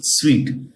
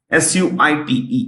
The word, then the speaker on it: suite: Today, PowerPoint is an indispensable, most necessary program in the Office suite. SUITE, suite. How do you pronounce it? Suite. Suit nahi kehte hain, suite kehte hain.